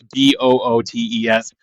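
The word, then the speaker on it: Boötes: It's Bootes, and one of the O's has an umlaut on it, the two little dots.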